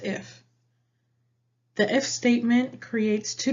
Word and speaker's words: IIF: IIF is pronounced if.